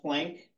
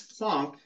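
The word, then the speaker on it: Max Planck: was by Max Funk spelled like plank but I got told by my Eastern European grad school instructor that if you ever pronounce that plank he was just going to straight fail you so it's PL you had to be very careful with the way you pronounce this in front of of ysep mik he's very very picky about his Eastern European names um max plunk came up with the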